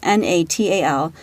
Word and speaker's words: Natal: The name actually comes from Natal, I believe is pronounced, Natal, the country of its origin, which is a province in South Africa.